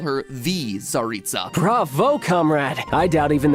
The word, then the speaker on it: Tsaritsa: The mysterious Tsaritsa, Cryo-Archon of Snezhnaya. The fact that I was able to pronounce that correctly should show that we not